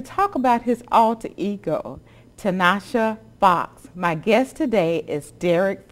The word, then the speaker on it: Tanisha Foxx: Pronounce it for me. It's Tanisha Foxx.